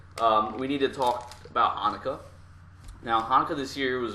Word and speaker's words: Chanukah: It's just spelled with a C. It's Hanukkah.